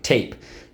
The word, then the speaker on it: tape: noun and the verb tape ap silent e tape sometimes somebody says you're going to put some tape over your mouth if you keep talking a silent e tape all right so how do we mark this up underline the a and the silent e twice draw an arrow back why you got it because in this case the silent e makes the a say a so let's go i'm